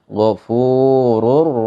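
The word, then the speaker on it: غفور: Yang dibaca contohnya Ghafurur Rahim. Ghafurur, ro-nya itu dibaca tebal.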